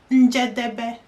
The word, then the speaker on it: Njedebe: 4 syllables. Njedebe, to help you in English. Njedebe.